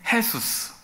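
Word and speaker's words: Jesús: 남미에서 온 사람 중에 헤수스 스패니쉬로 제 발음이 해 발음이 나거든요 그니까 jus 여러분 진짜로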